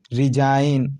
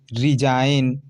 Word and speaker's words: resign: ठीक, रिजाइन, RESIGN, रिजाइन। ठीक है, जी यहाँ साइलेंट है कि नहीं?